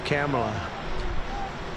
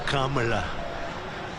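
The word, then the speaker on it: Kamla: It's Cam, right? Cam as opposed to calm.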